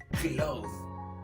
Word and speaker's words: clothes: Close. So, we say cloth, clothes, and close.